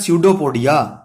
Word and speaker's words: Pseudopodia: तो मैंने क्या लिखा, इसको पढ़ना है स्यूडोपोडिया, पी साइलेंट है।